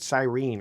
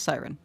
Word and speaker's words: Siren: want to say earlier I also use the the pronunciation siren but she pronounced it Cyrene earlier so am I saying it wrong it is siren so it's siren siren